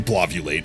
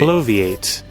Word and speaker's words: bloviate: It's not actually bllulate. I'm I'm definitely saying it wrong. What is it? Bloate. I'm going to just type it in that way. Blaviate. Blaviate. Is that it? Wait. Bloviate.